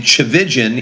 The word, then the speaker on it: Tchividjian: I was alive it was William Graham Turan chig and thank God she dropped the tur so it's just tulan uh and the last name chigan it's an Armenian last name my my dad